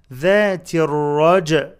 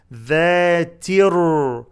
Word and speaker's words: ذات الرجع: ذاتر ألف and لام are not pronounced. ذاتر تر تاء followed by راء in pronunciation.